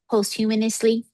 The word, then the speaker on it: posthumously: Posthumously?